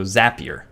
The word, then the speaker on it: Zapier: How to say Zapier. Oh, there you go. Rhymes with happier, so Zapier.